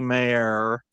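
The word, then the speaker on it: Mayr: as Melanie Mack and Chrissy Mayor because that's how you pronounce her name.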